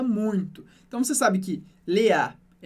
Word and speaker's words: Léa: estou exagerando, é que a sílaba forte do francês, como regra geral, é a última. Por isso a gente não fala Léa, mas sempre Léa.